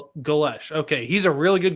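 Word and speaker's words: Golesh: Gales. Is it Galesh? Yeah, that's how I heard Eric Morris pronounce it. Glesh. Galesh.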